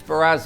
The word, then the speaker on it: Sperrazza: Sperrazza is our guest. Did I pronounce that correctly? Yes. Sperrazza is our guest, and we're talking about the Adirondack Railroad.